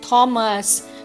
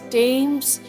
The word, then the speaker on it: Thames: Like usually I've heard people say Thames, they say Thomas, they say this, but it is not like that. It is Thames, it is Thomas, it is this, it is think, it is theme.